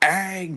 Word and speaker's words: Aang: Aang, dude. You just gotta like pronounce the name right.